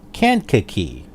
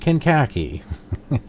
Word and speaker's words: Kankakee: flying here to greater can't kicky that's how it's pronounced Kankakee I for the longest time pronounced it can khaki it can't kicky I looked up videos